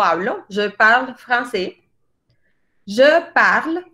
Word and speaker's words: parle: yo pago casi de parla se escribe parle pero la e no se dice en el francés ha